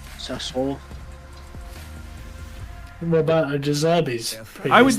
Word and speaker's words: Sassuolo: How do you say it? It gets Salzono, did you just say? Salzono versus Torino. Sassuolo.